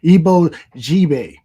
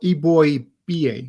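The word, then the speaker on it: Eboigbe: this one I'm going to have trouble with ebo JB actually pronounced ebo EB boy ba EB boy B oh okay so the G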